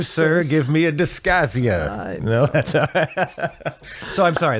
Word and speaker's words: dysgeusia: The number one, they can't smell, they can't taste, or dysgeusia, my favorite medical word of the week, which is a foul taste in the mouth for no apparent reason. How do you pronounce that? Dysgeusia?